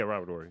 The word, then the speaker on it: Robert Horry: Like, You don't pronounce the H, but that was very funny. yeah. Robert Horry.